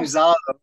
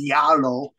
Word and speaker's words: Zalo: I keep saying Zalo, but Ms. Duke said Brennan is Yalo because my pronunciation on Zed is Zalo, but it's Yalo.